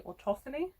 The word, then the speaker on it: autophony: means I suffer from autophony. Apparently I pronounced that wrong. It's meant to be autophony, but I like autophony. It sounds better to me.